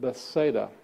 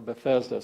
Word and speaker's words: Bethesda: In John chapter 5, verse 8, it's the story of the man who is by the pool of Bethsaida, or Bethesda, sometimes it's pronounced.